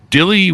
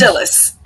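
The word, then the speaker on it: Dilys: RT reviewers Choice Awards and the Agatha two Dilly wins do I have that pronounce right Dy wins Dilly wins Dillis Dillis wins well they misspelled that it's d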